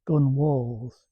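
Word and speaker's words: gunwale: ships were built and they put the guns on the walls, gun walls, but it's spelled gun whales.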